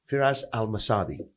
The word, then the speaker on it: Firas Al Msaddi: further Ado I want to introduce to you firas al-masadi did I pronounce it yeah to perfect but you know